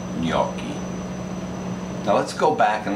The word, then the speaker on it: gnocchi: they're not genocides they're nakies no they're not nokies they're uh nokies new keys i've heard so